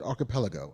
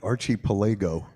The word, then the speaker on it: archipelago: So, it's, you know, it's a it's an archipelago, I suppose. Um, is that how you pronounce that? Archipelago. Yeah. I always thought it was like Archie Palego.